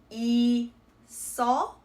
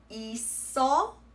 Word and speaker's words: 있어: So for example, this word would be read as 있어, 있어.